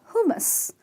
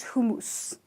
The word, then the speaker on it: hummus: who and must and the you hear is pronounced as an a so it's a portion of hummus not hummus not who mousse ok I think this one is by far